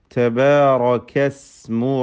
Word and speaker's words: تبارك اسم: തബാറകല്ലദീ, തബാറകസ്മു റബ്ബിക. താഇ, കാഫ്, ഹംസ്, ഷിദ്ദ, ഇസ്തിഫാൽ ഇതൊക്കെ ശ്രദ്ധിക്കുക. റാഇ തഫ്ഖീം ചെയ്യുക. ഇസ്മു, സീനിൻ്റെ ഉച്ചാരണം പ്രത്യേകം ശ്രദ്ധിക്കുക. തബാറകസ്മു, സീന് സാക്കിനാണ്, ചലിക്കാതെ ശബ്ദം ഹറക്കത്ത് പോലെ ആവാതെ ശ്രദ്ധിക്കുക.